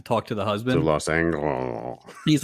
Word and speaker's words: Los Angeles: If you caught this later, it's pronounced Los Angeles.